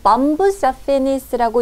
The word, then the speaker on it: Bombus affinis: 학술 용어로는 범부스 아피니스라고 읽을 수가 있는데요.